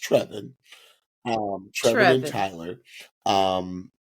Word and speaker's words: Trevon: saw trevin's name I said okay is it trayon because that's what it looked like but his name is pronounced trevan um Trev and Tyler um and this is